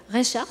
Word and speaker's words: Reichhart: Alors, j'invite Frédéric Reichardt, c'est comme ça qu'on prononce votre nom, donc, et sociologue, maître de conférences.